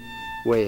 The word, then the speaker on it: Wa: Very, very sweet way of chanting this mantra. And you really want to pronounce the mantra accurately. Wa, like water.